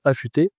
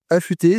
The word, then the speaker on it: Afuté: autre structure, qui est donc une association, qui s'appelle Affûté, dont l'objectif c'est de former ces personnes à un métier.